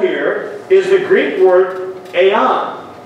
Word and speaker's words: aeon: The word world here is the Greek word aeon. A-I-O-N. Aeon is actually the way it's pronounced, but it's called age.